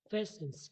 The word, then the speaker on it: patience: Patience, silent letters T and I.